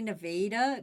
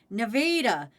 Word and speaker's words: Nevada: No, you got to say Nevada because you got to say the A like in Canada. Nevada.